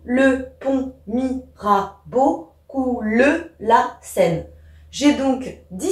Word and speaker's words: Seine: Et la Seine, le E il est à la fin, du coup je ne le prononce pas. Ce qui fait que ce vers doit se prononcer sous le pont Mirabeau coule la Seine.